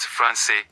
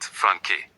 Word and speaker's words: français: We want français, not franqué. So we put that little tail under the C to make it soft, français.